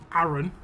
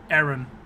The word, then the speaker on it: Aaron: how you pronounce no in england it's aaron in america it's eren it's it's kind of just pronounced differently in different countries like you cannot actually